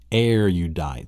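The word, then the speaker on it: erudite: Arudite. So pronounce it with me. Arudite. So arudite sounds like an air diet.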